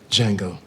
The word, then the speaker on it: Django: Django. The Jango. That's the Jango. The D is silent right there.